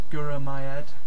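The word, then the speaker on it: Gura mie eu: uh and that's my fell leor pants to pronouncing these um thank you is gur myed um you know you could use that anywhere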